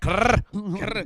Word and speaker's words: Kerr: I just like to say it like that. Kerr. It's Steve Kerr. Clearly, it's Kerr. Clearly, it's Kerr.